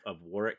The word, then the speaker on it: Warwick: I've actually been in the dungeon of Warwick Castle in England. Warwick, as in Warwick Davis. It's where I learned that you don't pronounce the W.